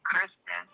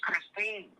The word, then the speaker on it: Christine: You didn't even say her name right. You kept saying Kristen, and her name's Christine.